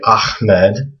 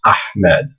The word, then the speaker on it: Ahmed: So when you hear people say Ahmed, they're actually pronouncing it wrong. It's actually this letter that they want to try to pronounce. It's Ahmed.